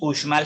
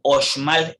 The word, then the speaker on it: Uxmal: Estaba haciendo la corrección con el profesor de Maya y él mencionaba que no es Uxmal, sino Oxmal, es la forma correcta de pronunciarlo.